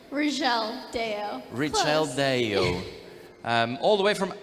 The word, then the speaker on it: Rizchel Dayao: Or did I pronounce that correctly? Rizchel Dayao.